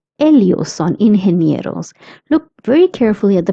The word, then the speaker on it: ingenieros: GE is pronounced as he. That's why it's ingenieros.